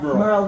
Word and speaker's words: Merle: I think if you don't mind, just on the lady, I don't know your name, what you Merle. said, Merle. Laura? Merle rhymes with girl, Laura, yes.